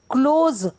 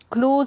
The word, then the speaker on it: close: चौथा शब्द है क्लोज, CLOSE, इसका उच्चारण देखिएगा। क्लोज, ज के पैर में बिंदु, क्लोज इसका मतलब बंद करना। क्लोज द डोर, दरवाजे को बंद करना। ही इज क्लोज friend of mine, स, दंत स, क्लोज फ्रेंड ऑफ माइन, करीबी, खास।